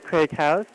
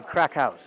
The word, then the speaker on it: Craic Haus: Bikini Sports Bar with Craig House. Is that how you say it? It's actually Crack House.